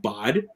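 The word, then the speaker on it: bahd: that stuff i remember i said bod i guess i was trying to say bud so like if you didn't know this and bod and is a uh it's spelled b-a-h-d and so that's actually uh it's actually um an east coast uh reference to bud like buddy you just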